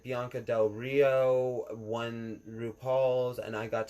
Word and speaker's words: Bianca Del Rio: Is Blanca Del Rio, is that from the movie Blanca? No, Bianca. Bianca Del Rio.